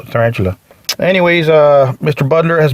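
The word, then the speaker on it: Tyrantula: in human condition tarantula but tarantula is spelled with y t y r a n t u l a so tarantula anyways uh mr butler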